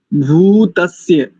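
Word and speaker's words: भूतस्य: वर्त आग्रे भूत अस्य जो भक है उसमें उकार दीर्घ है भूत स्य जातः पति रेक आसी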